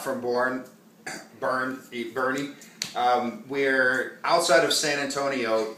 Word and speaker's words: Boerne: from born burn eat Bernie we're outside of San Antonio it's spelled like born but I guess what the Texas drawl it's called birdy my Barney tasted like